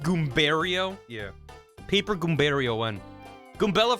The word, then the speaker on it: Goombario: It's pronounced Goombario.